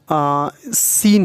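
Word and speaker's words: scene: पे सीजर्स के बाद सीन है सीन में सी साइलेंट है इसका मतलब होता है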